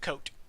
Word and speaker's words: Cote: Is that a silent E? Nope. So it's Kote? Oh, well, I guess it is, because it's coat, but the E influences the pronunciation of Got the it. O. Like a moat.